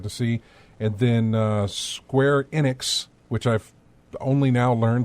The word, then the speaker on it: Enix: It's Enix. No, or it's Enix, not Enix, but it's Enix.